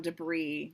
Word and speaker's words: debris: tanks erupting, men and debris go flying, floating debris. The remains of the boat smoke The S upon is the not pronounced on debris, my dear.